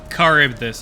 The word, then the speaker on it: Charybdis: Charybdis, okay. That's how it's pronounced.